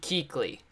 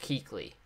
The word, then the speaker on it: Kuechly: 99 yard run first all right it's Luke Keeley that's what it is right I'm I probably pronounced that wrong too but I'm pretty sure it's Luke Keeley Luke Keeley anyways attempts